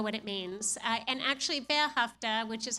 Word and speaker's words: Ve'ahavta: it means and actually behafta which is how it's pronounced is actually a Hebrew word and it comes directly